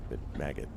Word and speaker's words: Maggot: who we will say his name rhymes with Laggett, who was in case anyone's curious, it's Maggot. I just realized people might make that rhyme with something that's a horrible slur, and I don't want that.